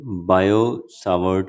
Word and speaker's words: Biot-Savart: आज हम पढ़ेंगे बायो सावर्ट लॉ। T silent होता है इसमें नाम में बच्चों, ध्यान रखना।